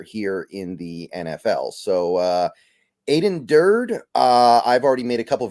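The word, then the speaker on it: Aden Durde: Aiden Durd, and I do believe that is how you pronounce it.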